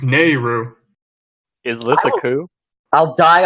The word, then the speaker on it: Naryu: the podcast nor you na are y-you its Nehru is Alisa ku I'll die on this hell